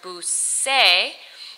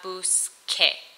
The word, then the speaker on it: busqué: from the verb buscar, with that k sound, into the word busé, so we need to change the spelling. We want it to say que at the end. How do you spell que? You spell it Q-U-E. So in the yo form, that C changes to a Q-U. So from buscar, you now have busque.